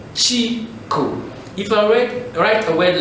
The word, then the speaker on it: Chico: Chico. So you just produce each syllable. Chico.